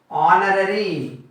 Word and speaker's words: honorary: H is silent here. Honest. This is honor. This is also a vowel sound. Honor, honest, and honorary.